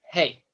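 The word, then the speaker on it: ה: And next we have Hey, the fifth letter, hey. The hey is like a breathy sound, like a h, almost like the letter H in Hebrew, the hey, h.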